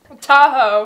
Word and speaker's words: Tahoe: they are in South Lake Tahoe did I pronounce that right Tahoe Tahoe yeah yesterday was a flat stage so